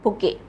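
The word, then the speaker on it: bouquet: यू QE double T बुके बुके इसमें T silent होता है T silent बुके so correct spelling of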